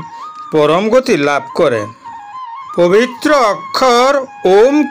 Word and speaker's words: ওম: তিনটি অক্ষর অয়ে গঠিত ওম শব্দের শুদ্ধ উচ্চারণের জন্য আমাদের নাভি এবং খোলা গলা ও মুখ থেকে আ ধ্বনি উৎপন্ন করে এটি উ ধ্বনির সাথে মিলাতে হবে যা মুখের মাঝখান থেকে উচ্চারিত হয় এবং শেষ ক্রমটিতে মুখ বন্ধ করে ম উচ্চারিত হবে ওম এর উচ্চারণ অম